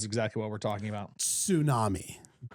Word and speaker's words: tsunami: I like to pronounce the T insami.